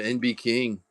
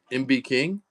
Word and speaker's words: MB King: Straight up spin going to NB King. NB King taking on the Jags. NB King taking down the Jags. All right, guys, we still it's pronounced MB King. MB King.